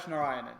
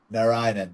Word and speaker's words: Narayanan: I'm Paul Manivan of Max Tech and Partners and today we have Narinan. Did I say that right? first. Close enough. Nionan. Yes. Narinan.